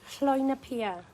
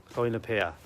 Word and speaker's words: Llwynypia: say the name of it because I can't pronounce it. It's Llwynypia. Llwynypia.